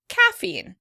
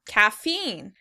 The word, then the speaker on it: caffeine: In British English, the word would be stressed on the first syllable. Caffeine. Caffeine. In American English, the word is stressed on the second syllable. Caffeine.